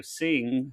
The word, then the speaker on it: Cing: And then this was a collaboration between him and the studio Sing, who is known for stuff like Hotel Dusk and Trace Memory.